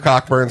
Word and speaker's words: Cockburn: And Cockburn, no silent CKs out here, will take down the national championship.